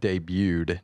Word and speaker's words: debut: it's debut you don't this t is silent so why would you